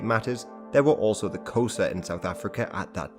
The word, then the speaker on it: Xhosa: Hence Xhosa is usually pronounced something like Xhosa, but I think it's time to explain a bit about the African people and their kingdoms.